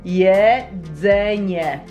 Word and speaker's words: jedzenie: Exactly, it starts with J. So everyone will try to say J. Yeah. Can I? Jedzenie.